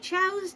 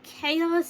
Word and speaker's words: chao: Something similar, or, like something like, one day, my chows decided to get into a, sing-along. Something like that is usually how you pronounce, like, when you say chows in a word.